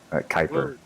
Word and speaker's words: Kuiper: Kuiper. Like the Kuiper belt.